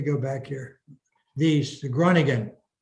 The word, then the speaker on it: Groningen: me let me go back here these the groningen not gregorian the groningen pieces i probably said it wrong